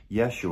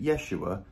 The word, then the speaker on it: Yeshua: his name his hebrew name would actually be yeshua or what we would call joshua which means